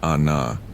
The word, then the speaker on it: Anna: We found a guest house with a wooden gate and a courtyard where a woman named Anna, pronounced Ahna, she corrected kindly, sat shelling peas with her mother.